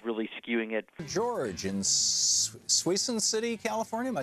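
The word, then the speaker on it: Suisun: you politics is really skewing it George in swen City California am I saying it right George siss city suon thank you so you're on the air with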